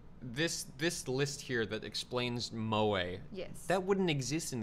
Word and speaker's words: moe: Also, it says it's pronounced moe. Moe? Yeah, instead of moe.